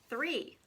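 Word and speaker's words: three: This one has a blend at the beginning. Actually, it's a digraph. Stick out your tongue. E, 3.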